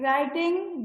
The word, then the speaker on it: writing: रिस्ट W silent है, फिर राइटिंग W silent है।